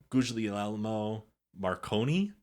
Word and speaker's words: Guglielmo Marconi: Earth in Europe from Guglielmo Marconi. You said that perfectly. Perfect Italian. That's how they say it.